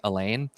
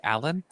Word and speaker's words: Alain: after having read, and I had always pronounced it Elaine, and I struggled to get myself to say Alan, and that's Well, always it's the struggle of actually first time.